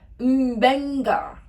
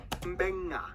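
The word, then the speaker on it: Beqa: alphabet, C makes the th sound, D makes the nd sound, B makes the mb sound.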